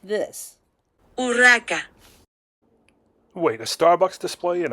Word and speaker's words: Urraca: Louis was supposed to marry her sister, but her name, Google Translates tells us, is pronounced like this. Urraca.